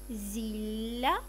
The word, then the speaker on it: зілля: Дві однакові літери вимовляй подовжено. Зілля, насіння, галуздя.